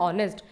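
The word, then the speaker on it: honest: रखा है वो है ऑनेस्ट इसको नेस्ट नहीं कहेंगे इसको ऑनेस्ट कहेंगे क्योंकि जो एच होता है वो साइलेंट होता है जब हमने इससे वर्ड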